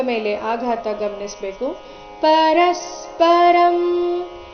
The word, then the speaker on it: ಪರಸ್ಪರಂ: ಮೇಲೆ ಆಘಾತ ಗಮನಿಸಬೇಕು ಪರಸ್ಪರಂ ಇಲ್ಲಿ ಪರಸ್ಪರ ರ ಆದ ನಂತರ ಅನುಸ್ವಾರದ ಉಚ್ಚಾರಣೆ ಕಂಸದಲ್ಲಿ ಅರ್ಧಮ ರೀತಿ ಕೊಟ್ಟಿದ್ದಾರೆ ಯಾಕಂದ್ರೆ ಮುಂದಿನ ಶಬ್ದ ಭಾವ ಭಂದ ಶುರುವಾಗ್ತಾ ಇದೆ ಇದು ನೋಡಿ ಪ ವರ್ಗಕ್ಕೆ ಸೇರಿದ ವ್ಯಂಜನವಾಗಿದೆ ಪ ಭ ಈ ವರ್ಗದ ಅನುನಾಸಿಕ ಮ ಆದ ಕಾರಣ ಅಲ್ಲಿ ಕಂಸದಲ್ಲಿ ಅರ್ಧಮ ಬಂದಿದೆ ಪರಸ್ಪರಂ ಭಾವಯಂತಶ್ ಭಾವಯಂತಶ್ ಶ್ರೇಯಪರ